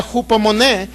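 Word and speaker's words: ὑπομονή: es una palabra que se puede pronunciar o escribir de esta manera cupo moneda que significa ser usted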